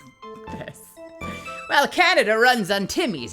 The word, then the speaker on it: Timmy's: runs on Timmy's Timmy's is it just Timmy's is that how you say it just like Timmy or is it timus timus timus how do you pronounce that name I assume it's just Timmy's right Timmy's okay Canadian